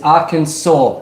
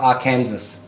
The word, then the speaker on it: Arkansas: It's Arkansas, not Arkansas.